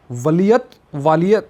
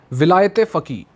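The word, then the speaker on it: ولایت فقیه: आपके लिए एक वालियत, मतलब उसकी प्रोनाउंसिएशन गलत हो जाए तो सॉरी, ये है प्रोनाउंसिएशन, विलायत फ़की, मतलब इसको इंग्लिश में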